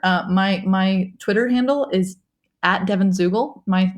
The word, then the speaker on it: Zuegel: My Twitter handle is at Devon Zuegel. My name is weird, so I'm going to spell it for you.